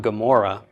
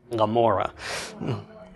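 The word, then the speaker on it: עמורה: Well, it's not Gomorrah, it's Gomorrah. Okay, it's that swallowing your tongue sound. If we were to transliterate it using the pronunciation of the ayin we have today, it would just be A-M-O-R-R-A-H. Right? We wouldn't even have a G at the beginning because it's such a subtle sound that's really disappearing.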